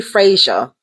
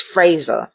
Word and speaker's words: Fraser: Ellis f a s I say Frasier but it's Fraser it's the way it's spelled Frasier Ellis MP Noranga